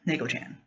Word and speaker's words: Neko-chan: all kinds of things because no one could pronounce it. Even though clearly it was spelled N-A-Y-K-O-Chan, C-H-A-N, Neko-chan.